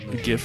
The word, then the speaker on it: GIF: Is it pronounced GIF or GIF? I pronounce it GIF. Everyone else is welcome to do it their own way if they want to be wrong. GIF is correct.